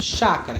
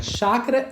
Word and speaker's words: chácara: único fonema por exemplo Chácara Chácara é se escreve com ch Porém na hora que você pronuncia ela tem um som do X chácara né já pessoas